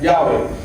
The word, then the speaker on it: Yahweh: Yahweh. Yahweh name for God of the Israelites, representing the biblical pronunciation of YHWH, right?